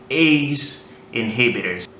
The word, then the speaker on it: ACE inhibitors: Обратите внимание на произношение. ACE inhibitors.